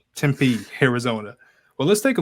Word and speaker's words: Tempe: it tempt tempe arizona's temp how do you pronounce that tempe tempe arizona well let's take a look at the